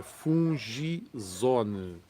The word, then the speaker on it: Fungizone: De mentirinha, fungizona o que é assim que se escreve, não, é fungizone.